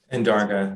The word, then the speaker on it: Andarga: So Mr. Andergay, is that the correct pronunciation? Andarga, that's fine.